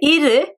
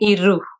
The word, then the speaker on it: இரு: Now when I say iru, you might notice I'm not saying iru. So whenever there is an u sound at the end in Tamil, normally it's pronounced as ir. It's like a middle sound.